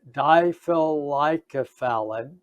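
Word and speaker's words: difelikefalin: a drug that's approved by the fda it's diffilicofun or diephol like fun and diphyllycophallin is how it's pronounced difficult like a phallid or difficult like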